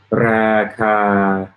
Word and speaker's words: ราคา: คา Raka both long.